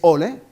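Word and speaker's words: olé: Y es la razón de por qué la palabra más hispana, que es ole, es el nombre en árabe de Dios, Allah, pero pronunciado con la E, L.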